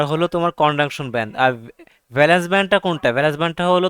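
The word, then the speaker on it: valence: নাকি ভি হবে এটার কারেক্ট কি কারেকশনটা কি ব্যালেন্স ব্যালেন্স ভি এল এ এল ই এন সি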